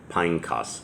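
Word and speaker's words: Phinehas: And Eleazar, son of Aaron, died, and they buried him in a hill that belonged to Pinecas is how that's actually pronounced, his son, which was given to him in the hill country of Ephraim.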